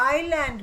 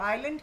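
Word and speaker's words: island: Around the हल आइलैंड बेटे S silent होता है सब लोग ध्यान रखो आइलैंड क्या होता है जो चारों तरफ से पानी से घिरा हुआ होता है और बीच में लैंड होती है उसको आइलैंड बोलते हैं एस साइलेंट होता है। स्पेलिंग में आई एस लिखना जरूरी है।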